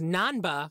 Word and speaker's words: Nanba: And their last name is Nanba, which is how you pronounce number.